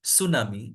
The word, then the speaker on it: tsunami: say if we write tsunami it's the word tsunami starts with t not with s but the pronunciation is s so in radio because we